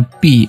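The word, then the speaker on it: 闭: Cai di dalam ini juga bacanya ternyata tidak sama. Setelah dikasih men zi kuang jadinya pi, artinya menutup ya.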